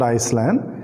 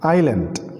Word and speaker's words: island: is the island how do we need to pronounce island iceland or iceland yeah sometime i heard many people pronouncing it as iceland it's not iceland it is island okay so the island